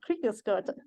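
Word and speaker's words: Kriegeskorte: How do you pronounce it? Oh, okay, I wasn't too far off. Kriegeskorta.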